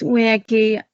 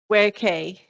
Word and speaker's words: Werkea: So I'm conscious I'm pronouncing your name wrong. Is it where David pronounced it slightly differently? I'm ever so sorry. It's Werkea. Werkea.